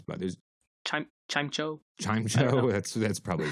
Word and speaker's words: Chimecho: Is it Chimicho? I often mispronounce Pokemon names, but there's... Chimecho?